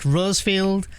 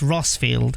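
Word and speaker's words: Rosfield: the iron Kingdom yeah I keep wanting to say it like rose felt like Rosefield but it's like it's rossfield I need to remember rossfield not Rosefield unless I initially read it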